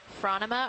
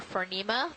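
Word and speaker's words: Phronima: favorite mid water organism is Franta ma or fern EEMA depending on how you want to pronounce it which is a transparent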